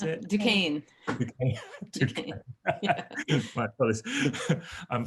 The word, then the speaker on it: Duquesne: Is that how I pronounce it? Duquesne.